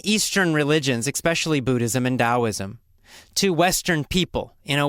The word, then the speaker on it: Taoism: Why didn't we just spell it with a D?